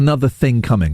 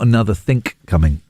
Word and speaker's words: another think coming: You got another think coming. No one says that. No one says it because they're wrong.